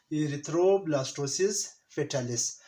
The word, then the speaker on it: Erythroblastosis fetalis: क्या है, प्रोनाउंस कैसे किया जाता है, इरिथ्रोब्लास्टोसिस फेटालिस, या इसको आसान हम हेमोलाइटिक डिजीज भी कह सकते हैं।